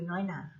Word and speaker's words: น้อยหน่า: น้อ เรียน นะ คะ อ้า ต่อ ไป คือ น้อยหน่า น้อง อย.น้อย ไม่ โทร น้อย หน.